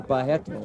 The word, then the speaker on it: Barreto: Or Barreto, as they pronounce it in Brazil.